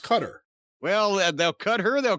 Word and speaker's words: Qatar: It's pronounced Qatar.